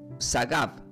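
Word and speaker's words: שָׂגַב: Y la palabra exaltado del hebreo significa, primero se pronuncia como sagav, s a gregato a y b.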